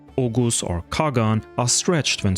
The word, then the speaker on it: Oğuz: This pronunciation stems from the late medieval Turkish language where the letter G became silent basically but kept in writing today by using the soft G letter. This means that words like ogus or kagan are stretched when spoken.